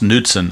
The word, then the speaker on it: Knudsen: on high alert Kurt Knudsen the right-hander is loosening in the pen for the Tigers and it is pronounced Newton I verified it with